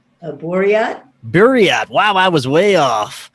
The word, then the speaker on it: Buryat: Did I pronounce that right? A Buryat? Buryat.